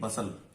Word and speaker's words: bustle: There was a great बसल, तो बहुत शोरगुल होता था। बसल मतलब होता है शोरगुल, BUSTLE, यहाँ पे टी साइलेंट है, तो बसल में शोरगुल, जब स्कूल चलता था तो बहुत शोरगुल होता था।